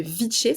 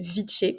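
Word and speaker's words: viche: Elle le donne, cette boisson-là s'appelle le viché, ça s'écrit V-I-C-H-E, Ouais. le viché qui est reconnu aujourd'hui au patrimoine immatériel de la Colombie.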